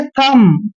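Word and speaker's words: thumb: और यहां पर देखिए टी एच यू एम बी इसको पढ़ना हमने थम थम बी साइलेंट रहेगा बी का उच्चारण हमने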